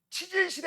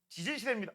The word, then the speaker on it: 지질 시대: 자, 이때 발음 조심하세요. 치질 시대 아니에요. 지질 시대입니다.